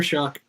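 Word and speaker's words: Shough: I don't understand how it is pronounced Chuck, but it is uh Tyler Shuck um bald dude.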